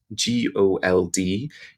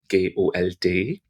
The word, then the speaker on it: Gold: So if you imagine the word gold, G-O-L-D, in German the spelling is the same, G-O-L-D, G-O-L-D, but it's not pronounced gold, it's gold. So you hear the D at the end is a little bit harder. Gold, gold. Almost like a T.